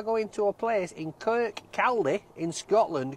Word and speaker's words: Kirkcaldy: We are going to a place in Kirkcaldy in Scotland. Kirkcaldy. It's pronounced Kirkcaldy.